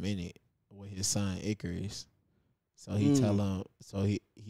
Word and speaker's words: Icarus: Am I pronouncing it right? The Cyrus tapes or the Icarus tapes? Icarus tapes.